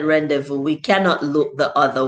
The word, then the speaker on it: rendezvous: fair laser fair and rendezvous and he said rendezvous we cannot look the other way z all right so we don't pronounce the z in rendezvous and then laser